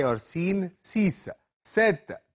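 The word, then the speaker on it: sept: ये और सीन सीस सेत एस ई पी टी यहां पर पी साइलेंट है खामोश हर्फ है सेत वीत नफ दीस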